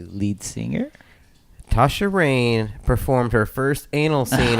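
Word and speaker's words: Tasha Reign: Let's go with Tasha Rain. I can tell you it's spelled Reign, if that helps.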